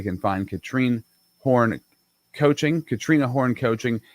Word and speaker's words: Katrine: Katrina Horn Coaching. It is Katrina, but it's spelled, looks like Katrine.